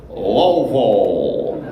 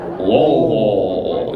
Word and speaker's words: Louisville: You got to say it how we say it, and we say it like this: Louisville. Louisville. You gotta like swallow a toad when you eat it, when you say it.